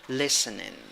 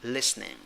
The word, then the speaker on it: listening: weak eye at the end of the word pronunciation listening listening it can also be listening listening with two syllables cool number three it